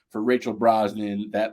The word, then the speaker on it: Brosnahan: Rachel Brosnan uh uh I'm gonna call it Brosnan I think that's the way you pronounce it I think it's